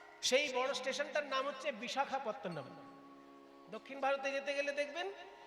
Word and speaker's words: বিশাখাপত্তনম: বিশাখাপত্তনম, কথাটা হচ্ছে বিশাখ, বিশাখা নয়। বিশাখ আর বিশাখা আলাদা জিনিস।